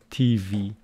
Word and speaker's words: TV: just watch them on TV I'm writing it for you here so stress of TV is on the second syllable and the preposition for